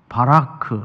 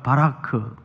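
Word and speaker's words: ברך: 5부 졸음도 쫓을 겸 한번 따라서 해볼까 바라크 아 예 발음이 안 좋아요 아 히브리 사람들이 같아요 으 다시 한번 해볼까요 바라크 복 이란 뜻인데 으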